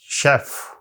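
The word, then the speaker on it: chef: अब हम देखते हैं वड द फ्रेंच ओरिजन जो फ्रांसीसी जुबान से लफ लिए गए हैं उनको जब हमने सी एच के साथ लिख यानी वहां यह जुबान जब इस्तेमाल होती है तो उनके हां यह श की बात देती है एस एच की बात देती है जैसे आप देख रहे हैं ब्रोशर शैंपेन शेफ और मशीन और मस्टे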